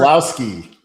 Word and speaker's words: Keselowski: Did you know that Brad Keselowski, I hope I spelled pronounced that right, the NASCAR racing personality that was guest coaching the West brought in over Keselowski.